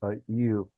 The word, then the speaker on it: ewe: So you're seeing the difference. But now, let me show you this. What is in Shalaki King? Go ahead, King. I believe that it's pronounced you.